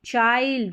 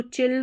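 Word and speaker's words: child: Bind हो गया, behind, find, चाइल्ड, इसको चिल्ड नहीं पढ़ते हम, चाइल्ड पढ़ते हैं, माइल्ड और ब्लाइंड।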